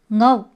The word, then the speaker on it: 我: 普通话的我，苏州话发音是 ngo，它的声母